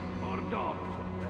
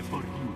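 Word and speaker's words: Bordeaux: Bordot, roba costosa. Non si dice Bordot, si dice Bordiù.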